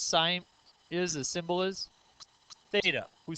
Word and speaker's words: Theta: t in there and it's the Greek letter that makes the sound th so Greeks didn't put